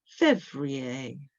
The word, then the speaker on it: février: Février, février. You sound the syllables there?